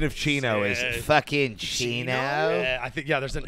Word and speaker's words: Chino: That's actually the correct pronunciation of Chino is fucking Chino.